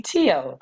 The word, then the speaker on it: TEOTW: o WT I'm like how do you pronounce that no I'm like who is that so now I know that to be tio so I clicked on